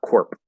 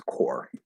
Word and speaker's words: corps: words um so this the p is silent so it's not Corp it's core it's pronounced just like the word core um this one with